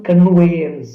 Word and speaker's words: conveyance: இங்க கன்வின்ஸ் அப்படின்றது பிழையாக ப்ரொனவுன்ஸ் பண்ணப்பட்டிருக்கு, அதனால மீனிங்கே டோட்டலா மாறிட்டு. அப்ப சரியான வேர்ட் என்னவா இருக்கும்? I will give you just 10 seconds to guess the answer. The correct answer is travel conveyance.